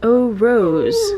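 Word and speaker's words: Eau Rose: and this is the oh rose that's how that's pronounced right e-a-u in french's o o rose nice i like the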